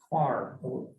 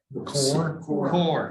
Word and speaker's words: coir: They're using a lot of quar. I can't pronounce that with that. Core. C-O-I. Well, what's the I doing there if you're going to say core?